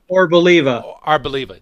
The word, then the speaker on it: Arboliva: and the Pokemon Moltres and how do you pronounce that other one, Doug? Arboliva.